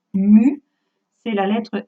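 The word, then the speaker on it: μ: stigma au passage la ce symbole que j'emploie avec non cluster se prononce mu c'est la lettre m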